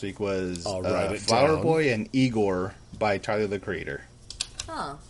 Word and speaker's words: Igor: Yeah, IGOR. Okay. Yeah. just making sure that, Pronounced Igor. Yes. It's pronounced Igor.